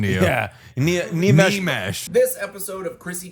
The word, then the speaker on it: Nimesh: Nimesh Patel, yeah. I just mansplained his pronunciation to you. Yeah. Nimesh.